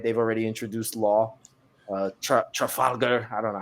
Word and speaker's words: Trafalgar: They've already introduced Law, Trafalgar. I don't know how you say it. That's how you say it. You said it right. Trafalgar. Trafalgar. Trafalgar.